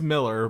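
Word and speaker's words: Millar: like what mark um is it mark miller or mark it's miller but it's okay but it's spelled malaria i was like it's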